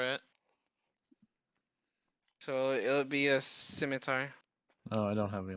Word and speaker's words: scimitar: That's why people call it a skimtar. Yep, it's a scimitar.